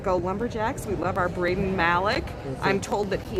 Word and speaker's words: Braden: And, and Lois said she wants you to know that his name is Braden, like Braden. Maybe we mispronounced Maybe it. I've been calling him Brandon.